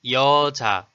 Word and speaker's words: 여자: For example, the word 여자 is made of syllable 여 and syllable 자, sound as 여자, and it has a meaning of a girl or a woman.